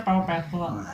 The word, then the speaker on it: Paw Patrol: Itu tulisannya Paw Patrol. Ya kan dibacanya Pau Petrol.